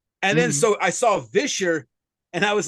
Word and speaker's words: Visher: So you would call it Visher with a V. With a V. Because, like, yes. So, like Fisher, but then put the V on it, which I'm going to go ahead and say this right now.